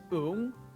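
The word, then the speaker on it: ủng: It's pronounced ung. Remember that the O and U vowels are going to color the NG sound, turning it into something that sounds more like an M.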